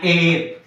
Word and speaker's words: heir: An heir. H-E-I-R. H is silent letter and the immediate second letter is vowel letter and it gives the pronunciation of vowel.